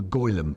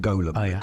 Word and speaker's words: Golem: ancient Jewish Mythic character called the golum some people pronounce it Golem depends all right and the